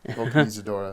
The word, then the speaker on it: Vulcanizadora: I can't even pronounce it. Vulcanizadora. How do you know how to say it? Vulcanizadora.